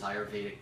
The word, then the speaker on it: Ayurvedic: Ayurvedic.